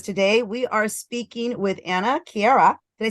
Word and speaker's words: Anna KiaRa: media Productions because today we are speaking with Anna Kiera did I say that right ah yes you pronounced it right oh great I'm so happy